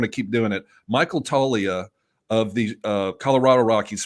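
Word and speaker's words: Toglia: I love Michael Talia it's spelled t o g l i a but it's the G silent toia he's a power hitter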